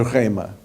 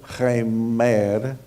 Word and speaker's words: rhema: A palavra é rema. Não é remer, como algumas pessoas pronunciam meu nome. Não é remer, é rema.